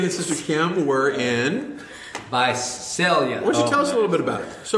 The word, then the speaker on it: Visalia: It's not Visalia, it's Visalia. It's not Sal, it's Sail. Sail. Visalia.